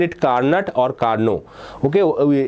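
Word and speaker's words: Carnot: spell it carut or Carno okay the actual spelling in Actual spelling the te remains remains silent so one of our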